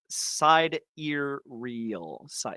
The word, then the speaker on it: sidereal: wrong yeah yeah see somebody says side ear real sidereal okay yeah and my